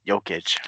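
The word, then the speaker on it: Jokić: everyday it's hard to say his name but yo kitch there we go G he's not very he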